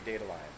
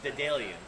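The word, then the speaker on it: Daedalian: The cherry dandelion. Yes, it's the cherry Dedalian, Love. which is the Greek demigod.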